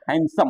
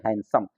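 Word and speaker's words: handsome: डी नहीं उच्चारण होगा हैंडसम में हैंडसम होगा डी साइलेंट होगा पढ़ेंगे हैंडसम इसी प्रकार साइलेंट जी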